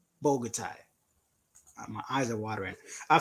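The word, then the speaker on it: Bogotá: bouquet oh my god I've been calling this bouquet let's get a Bogota why is there Q in there bro guitar Bogota my eyes are watering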